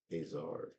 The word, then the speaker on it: Azar: He just presented himself as Azar. Spell that.